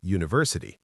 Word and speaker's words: university: Because university starts with a u sound which is a consonant sound. We say a university not an university.